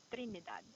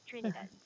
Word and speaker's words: Trinidad: a vibration on a letter r trinidad but on american english it's very soft trinidad so trinidad or trinidad is also good or are some of the ways on how you can read or pronounce this place okay okay before we